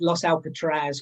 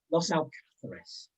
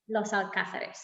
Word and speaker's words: Los Alcázares: Yeah, we've had Los Alcatraz, we've had, anyway, all sorts of pronunciations. This is Los Alcázares. Los Alcázares, yes.